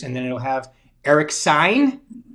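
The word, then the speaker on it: Saenz: then it'll have eric sign looks like sounds like stop sign but it's spelt s-a-e-n-z and then michelle klein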